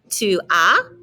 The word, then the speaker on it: tu as: Tu as, don't pronounce that S.